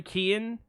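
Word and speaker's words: Keoghan: There's It's Barry Kon. Barry Keon, who plays uh Dominic uh Kierin, who's like uh if y'all ever saw The Outsiders?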